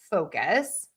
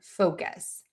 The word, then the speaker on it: focus: Focus. Focus. Focus. Okay, this is a couple of things we're going to be working on. Long vowel and the oo fo.